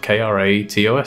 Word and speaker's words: Kratos: i just say kratos his name is spelled k-r-a-t-o-s so my natural instinct is to pronounce it kratos not kratos because there's